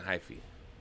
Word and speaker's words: hyphy: yeah yeah and be like dynamico getting a high fee is that that's how you say say you're